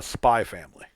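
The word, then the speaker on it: Spy × Family: one and that's a spy family or oh yeah or for those who read certain mangas keep calling it hunter x hunter x family the x is silent uh is a hilariously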